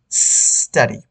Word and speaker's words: study: আমরা অনেকজনের উচ্চারণটা করে স্টাডি, প্লিজ আল্লাহর রাস্তার উচ্চারণটা স্টাডি করবেন না, সিম্পলি স্টাডি, এস থেকে আসছে উচ্চারণটা, এস, স্টাডি।